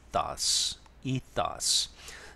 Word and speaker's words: ethos: 않을 것 같아요이 단어는 발음은 이스로 하죠 강세가 앞에 있습니다 e e e 어떤 사람이 약간 이도 한 사람도 있고 근데 뭐 기본적으로는 아에 가까운 e ees 이스라 하면은 어떠한 특정 개인 집단